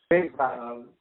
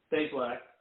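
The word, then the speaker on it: Bazelak: the the recruit Connor, I forgot how to pronounce his last name. Basilisk or Basilisk. Basilisk.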